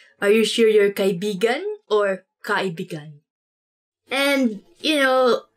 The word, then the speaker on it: kaibigan: Let me say something about this word, because you have to say it like this. Kaibigan. Kaibigan. Because kaibigan means friend. But when you twist it a bit and say it like this, kaibigan. Kaibigan. That's kind of, it's not really a natural way of saying it, but it actually means lover.